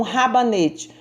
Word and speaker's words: rabanete: erres no início tão rabanete um r sozinho porém no início palavra ele é pronunciado forte esse é o questão